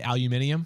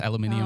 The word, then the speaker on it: aluminium: And Is it in, don't the Brits say aluminium? yes, aluminium.